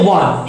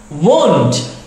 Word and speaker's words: won't: Kalau seperti ini kan bacanya want, ingin. Ini salah. Seharusnya apa? Won't, seperti itu.